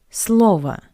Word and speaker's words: слово: For example, word, слово, слово. In the plural, слова, слово, слова. It's a tricky one, right? Because in the singular, the last O is unstressed, that's why we pronounce it as a, слово.